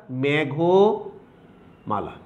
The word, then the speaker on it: মেঘমালা: মেঘ এই শব্দের অর্থাৎ পূর্ব পদের পরের যে অটা, অর্থাৎ ঘয়ের সাথে যে অটা আছে সেই অটার উচ্চারণটা উকারান্ত উচ্চারণ পাবে, অর্থাৎ মেঘমালা। ক্লিয়ার?